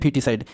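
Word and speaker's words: foeticide: फीटिसाइड, फीटिसाइड इसका उच्चारण क्या होता है? ओ साइलेंट रहता है, इसको कहते हैं फीटिसाइड।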